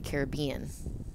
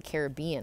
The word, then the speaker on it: Caribbean: in 1973 oh my god Pirates of the Caribbean oh you say it like that I mean if I'm gonna say Pirates of the Caribbean I say it Caribbean I'm not gonna say